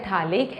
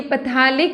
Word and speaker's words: phthalic: So this is थैलिक acid. ये पैथैलिक नहीं बोलते, pH इज साइलेंट हियर.